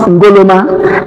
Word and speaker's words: Nkrumah: By then, Nkrumah, as we pronounce Nkrumah initially, or the actual name is being pronounced Ngoloma in the tribe in which he comes from.